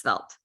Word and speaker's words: Svelte: need you may have lastly there's felt um it's kind of a framework without a Frameworks well it's spelled svelte is a relatively a